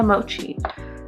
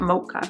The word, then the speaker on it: mochi: to this shade called mochi is that how you pronounce it mochi yeah mochi it's not mocha ruby oh man i